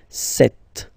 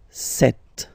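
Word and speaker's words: sept: Then here, remember, P is not pronounced, okay? It doesn't exist, so you get this set sound, set, set.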